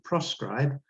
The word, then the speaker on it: proscribe: Notice the difference between proscribe and prescribe. Notice also the tiny change in pronunciation. Proscribe, proscribe means don't do it. Prescribe means you must do it.